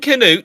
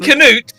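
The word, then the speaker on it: Cnut: spelled Secret it's K it's specifically a hard K it comes from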